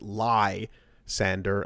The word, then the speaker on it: Lysandre: So most people pronounce it lie Sander as in to tell a lie and sanding.